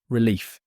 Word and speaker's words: relief: stress on first part relief relief stress on second part grateful.